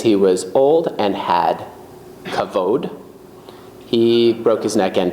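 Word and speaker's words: כָּבוֹד: So it's pronounced kavod.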